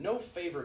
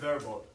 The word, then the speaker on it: non-verbal: I heard an F sound and it's V.